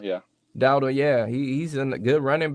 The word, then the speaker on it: Dowdle: Dotto? Rico Dowdle, yeah. Dowdle, yeah.